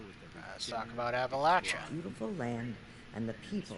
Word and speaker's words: Appalachia: You know it's pronounced Appalachia, right?